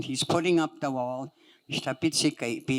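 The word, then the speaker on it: ihtapit'sikaipi: Minapio isamia ishtapitsikeipi. This is what my dad would refer to it, the wall. Ishtapitsikeipi. When he's putting up the wall, ishtapitsikeipi. And I would spell it as IHTAPIT, glottal stop, SIKAIPI.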